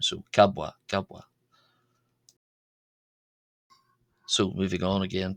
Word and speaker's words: ⲕⲁⲃⲃⲁ: of the letter wa the first uh wa is a b and the second is a w sound. So kabwa gabwa.